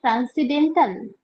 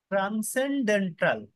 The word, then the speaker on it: transcendental: আর এদের error analysis, ওটা উচ্চারণটা কি ট্রান্সিডেন্টাল নাকি? ট্রান্সেন্ডেন্টাল, আচ্ছা। TRANSCEN, ডেন্টাল।